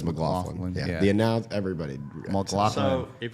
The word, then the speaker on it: McLaughlin: I think the right way is McLaughlin. McLaughlin. But everybody in the Always South says McLaughlin.